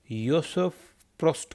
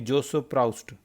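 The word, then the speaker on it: Joseph Proust: इसको आप योसेफ प्रोस्ट कहते हैं, योसेफ प्रोस्ट, योसेफ प्रोस्ट। ठीक है, ये नहीं कि जोसेफ प्राउस्ट, ये फ्रेंच की जो प्रोनाउंसिएशन है ये अलग होती है।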